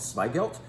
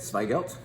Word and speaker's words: Zweigelt: planted red grape called swelt yes it starts with a z and that's supposedly how you say it swelt um maybe you've never